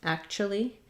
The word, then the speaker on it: actually: actually pronounce it is we reduce typically so we it sounds like at Cha Lee actually so this t u becomes a a CH sound actually that's the reduction